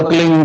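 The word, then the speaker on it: क्लीं: की मात्रा और बिंदी, उसका उच्चारण होगा क्लीन।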